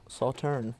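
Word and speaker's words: Sauternes: It's also, so it's got the Sauterne in the... You did it. Sauterne, that's how you pronounce I it.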